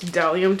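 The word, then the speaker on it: bdellium: tools um booth and it's spelled b d e l l i u m but the B is silent so it's delium tool at delium tools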